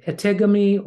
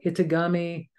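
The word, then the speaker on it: etegami: that is so and I might I might pronounce it incorrectly but it's spelled e t g a m i in eami or Itami either way it is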